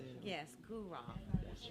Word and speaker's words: Guraw: Yes, Guru.